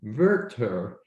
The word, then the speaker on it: Werther: It is Werther, which is the correct German pronunciation.